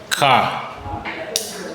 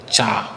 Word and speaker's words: char: Then we have car. Some people call it pronounce it char.